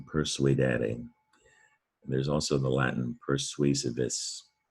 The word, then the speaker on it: persuadere: You need to know that sometimes, not very often, but sometimes SU can sound like SW, sua. So here it is in persuadere.